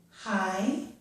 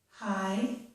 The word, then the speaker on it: high: the word laugh, or G plus H can be silent, as in the word high, or G plus H when followed by the letter T just makes a T sound.